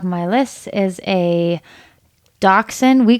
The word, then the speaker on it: Dachshund: The one at the top of my list is a Dachshund. We call them Doxies because I don't think I can pronounce it properly. Dachshund.